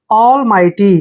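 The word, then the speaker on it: almighty: उच्चारण हमने नहीं कर जब भी टी से पहले जी एच आए तो जी एच को हम नहीं पढ़ेंगे और देख टी वाय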